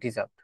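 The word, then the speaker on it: dessert: মিষ্টি জাতীয় যেটা হচ্ছে ডিজার্ট অর্থ ইংলিশের স্পেলিং বানানটা সেম বানানে একই একটা হচছে ডিজার্ট। ডিজার্ট যদি আপনি উচ্চারণ করেন এটা হচ্ছে মিষ্টান্য। আর যদি ডেজার্ট উচ্চারণ করেন এটা হচ্ছে মরুভূমি।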